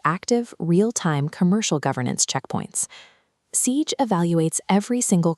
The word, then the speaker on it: CIGE: Enter CIG, pronounced CIG, the carrier interconnect governance engine.